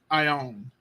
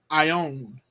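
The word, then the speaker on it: αἰών: this is two letters notice two vowels Alpha Iota they make one sound I o I own age oh all right the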